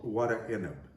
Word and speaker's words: Warek Enib: a lebanese dish called what a ineb and as you'll see in the title of the video it's spelled quite differently than the way we pronounce it it's we pronounce it